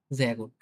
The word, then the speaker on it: sehr gut: sehr gut, sehr gut খুব ভালো। দেখেন দেখছেন এটা কিন্তু বর্গীয় যার মতো উচ্চারণ হচ্ছে, হ্যাঁ? এই এস টা।